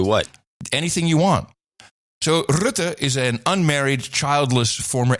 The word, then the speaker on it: Rutte: But that would not be the message we get from Mark Rutte, and that is the way you pronounce it, M5M, Rutte, who is a unmarried, childless former HR manager at Unilever.